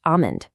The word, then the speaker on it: almond: The phonetic truth here is that the L is entirely silent in standard pronunciation. It's just almond.